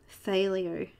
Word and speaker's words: phthalo: So I'm going to fill in the light green, or light phthalo, it's a really hard word to pronounce, that one. It's like an F and a TH at the same time, phthalo. Phthalo green, and I'm going